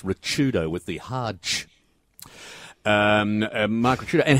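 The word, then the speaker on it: Ricciuto: once his name mark rashido it's actually pronounced richardo with the Hajj um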